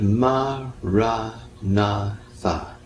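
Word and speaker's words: maranatha: And the word I recommend you to recite is the word ma, ra, na, tha. That's 4 equally stressed syllables.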